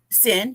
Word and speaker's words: Cyn: to the show Hello thank hello am I pronouncing that correct sin yes I just wanted to make sure yeah